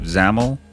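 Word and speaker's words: XAML: right so you have zaml which is this area down here you can see it says zaml that's how that's pronounced and then on the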